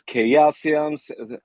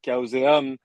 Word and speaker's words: Chaoseum: Uh, you can choose how you want to pronounce it because this word doesn't exist. So sometimes it's Chaosium or Chaosium or Oh, with our French accent Chaoseum. Depends. So very Chaosium, I think is pretty good.